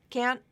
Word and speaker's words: can't: I can't go can't can't can't had the a vowel there was no vowel reduction there and it had stress so that is typically